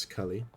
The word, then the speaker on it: Scully: It's pronounced Scully. Because apparently no one knows this.